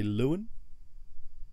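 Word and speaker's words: Leuan: I would looking at it, I would say Lewin. I've not. L-E-U-A-N. Lewin? Yeah. Yeah, I'd say Lewin.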